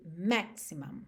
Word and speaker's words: maximum: E as sílabas tônicas são as primeiras nessas duas palavras. Então, você tem minimum e maximum, ok?